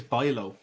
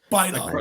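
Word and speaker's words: Bijlow: I think it's Bilo. Bilo. Like Bergwijn, the IJ.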